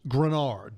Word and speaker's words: Greenard: It's not spelled like it's pronounced. It's Greenard, okay, on the back of the jersey. But don't be confused, folks. His last name is actually pronounced Grenard, Jonathan Grenard.